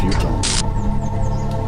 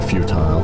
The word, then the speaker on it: futile: They cannot see that their efforts are futile. Or futile, depends on who you ask. Different pronunciation.